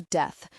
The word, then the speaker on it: Death: His name was death. It was pronounced to rhyme with teeth, but Bitterblue liked to mispronounce it by accident on occasion.